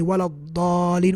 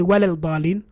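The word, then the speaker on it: وَلَا الضَّالِّين: That's why we say walad-dalin. We don't say walal-dalin, walal-dalin, la, walad-dal, we don't pronounce the lam.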